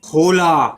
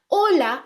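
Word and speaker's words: hola: हाय सबको hi everyone हम इसको होला नहीं पढ़ेंगे ओके होला एच हमेशा साइलेंट होता है तो हम इसको क्या बोलेंगे ओला ऐसा इमेजिन कीजिए कि ए एजिस्ट ही नहीं करता है ला ओला आ तो दोस्त हाय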